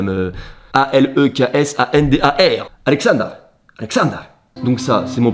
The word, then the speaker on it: Aleksandar: je me rends compte que la calvitie est prononcée. Et mon prénom en serbo-croate, ça se dit Aleksandar, voilà. Je parle pas très bien par contre, hein, faut pas commencer à me... A-L-E-K-S-A-N-D-A-R, Aleksandar.